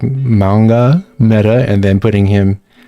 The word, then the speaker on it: Mauga: Oh yeah, but Mauga, that's not how you pronounce his name. It's like Manga. That's like the proper pronunciation.